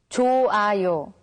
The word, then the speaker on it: 좋아요: When the character hyut meets with iung, the character hyut becomes silent, so it's pronounced as 좋아요.